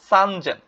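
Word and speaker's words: さんぜん: তিন নাম্বার হচ্ছে গিয়ে 3000 কে কি বলে সানজেন এটা একটু এক্সেপশনাল ব্যতিক্রম এটাও কিন্তু ভালো করে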